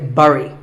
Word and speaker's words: bury: i used to say bury i mean it looks like that right but this word sounds just like the berry in strawberry so once again berry but